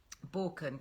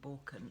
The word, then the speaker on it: Baukjen: Borken, go and check them out. They've got some really nice things. If you're looking at some bit of a wardrobe refresh for spring, it's spelt Baukjen, Borken.